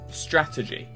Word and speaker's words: strategy: Strategy, first syllable.